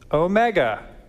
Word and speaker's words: omega: If we want a long O sound, we'll go with omega. Omega, big, big O. Long O sounds like rose, toes, foes.